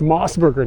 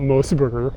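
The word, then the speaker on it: Mos Burger: it wrong they're like it's mossberger not mosberger don't you guys live in Japan why don't you know it's mossberger it's just like uh you're wrong what you want from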